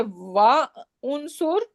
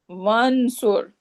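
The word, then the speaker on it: وانصر: Should I say Wa unsur? No. What should I say? One sur. Wansur.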